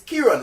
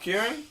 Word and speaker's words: Kyrian: No, I'm saying it's KYRIAN. Like me saying KYRIAN. Is that enough? Kieran? He wants me to say KYRIAN. Yes. Kieran. You want me to give him 3 syllables.